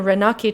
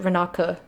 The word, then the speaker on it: Ranaki: cloud chart it was found in a ranaki temple months ago or actually they pronounced it renaka makers of this game